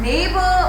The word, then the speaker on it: neighbor: And neighbor also don't have GH sound. It is silent here.